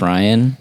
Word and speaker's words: Rian: we work together you your name is spelled r i a an and so like I know it's Ryan but but in my I get self-conscious too so I'm like is it Rion like but but I